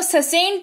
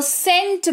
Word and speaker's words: scent: जैसे SCENT, यहां पर देखो सी के ठीक पहले एस है, तो इसको ससेंट नहीं पढ़ते हैं, इसको सेंट पढ़ते हैं।